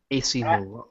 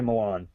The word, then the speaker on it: Malin: AC Malin. AC Malin. I don't say Milan. It's not spelled like Milan.